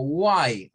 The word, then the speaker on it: why: Hay personas que esto lo pronuncian como why, o sea, haciendo como esto, como que fuera una U. Why, why.